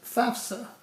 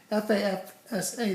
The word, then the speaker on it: FAFSA: The word is FAFSA, F-A-F-S-A, the Free Application for Federal Student Aid.